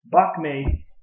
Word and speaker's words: Bak Mei: BOC may versus the Shaolin Temple okay okay buck made Chinese pinyin by me or behind me in